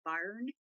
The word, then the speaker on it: Byrne: The author, Rhonda Byrne is how you say her last name.